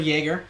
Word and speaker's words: Jäger: Is that Jäger? Yeah. Or is that just from like being in college? No. No. That's got the on it on the a. So Jerger. Okay.